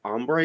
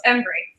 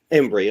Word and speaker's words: Embree: Systems in Austin today we're joined by ombre is that how I pronounce it is that correct close embre embre Okay and she is the cretive director for